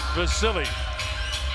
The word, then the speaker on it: Vasyl: much power with both hands here he is vasily lomachenko spelt v-a-s-y-l pronounced vasily gives all the credit to his dad it's